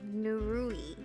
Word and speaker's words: Nerui: Nerui.